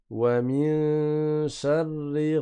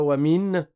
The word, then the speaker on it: وَمِن شَرِّ: Attention, c'est pas wamin. Wamin sharri. Je répète, on ne prononce pas le noun, la langue ne touche pas le palais.